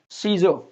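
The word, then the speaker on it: Caesar: देखिए ई और ए दोनों इकट्ठे आ गए, यहाँ ई का साउंड आएगा, ए का नहीं आएगा। जैसे सीज़र, ये रोमन सम्राट को कहा जाता है।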